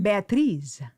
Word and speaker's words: Beatriz: Beatriz. Beatrice? Beatriz. Like Beatrice.